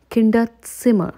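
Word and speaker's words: Kinderzimmer: and a kid's room in German is called kinda simmer so again it's not Zimmer you have to watch out for these type of pronunciation rules so now let's go ahead and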